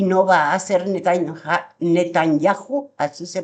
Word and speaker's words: Netanyahu: va a hacer y no va a ser Netanyahu, así se pronuncia.